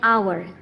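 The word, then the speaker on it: hour: vowel sound an आवर अब इसकी spelling H ही मौजूद है लेकिन क्योंकि यह साउंड आपका ओ के हिसाब से से कर रहा है तो यह वाउल साउंड है इसमें एच आपके पास साइलेंट है सो it sounds like आवर एंड O includes a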